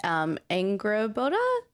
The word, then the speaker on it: Angrboda: So I left off right after Atreus was with Angrboda.